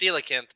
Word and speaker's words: coelacanth: It's coelacanth, but it's like it's spelled COEC.